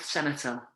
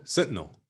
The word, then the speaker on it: Sentinel: It's kind of like what always boggles my mind is it the um, North Senetal? Am I pronouncing that right? North Senetal Island. oh, Sentinel.